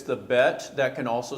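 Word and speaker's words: ב: So I will mention the dot, when it's in the bet, it's like b, like you're trying to get that dot out of the mouth, b. But when it's not there, you're just v.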